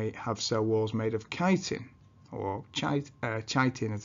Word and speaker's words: chitin: fungi cells, which have cell walls made of chitin, or chitin as it's spelt.